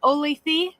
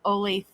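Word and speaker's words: Olathe: No, I think it's pronounced oletha and I know it looks like it's pronounced ole but I was told it's pronounced ole with an a.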